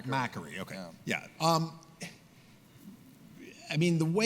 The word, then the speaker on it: Macquarie: The McGuire case. Oh, the McGuire case. Up on Friday. Is that how you say it? It's Macquarie.